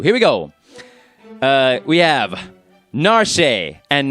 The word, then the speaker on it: Narshe: So these are the Japanese pronunciations. You can switch to these pronunciations if you want or not. It's up to you. Here we go. We have Narshe and not Narshe.